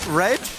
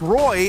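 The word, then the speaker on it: roeJ: Reg? But no, it's Roy, and that's a name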